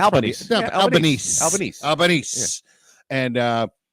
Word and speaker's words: Albanese: Is that how you say it? That's Albanese.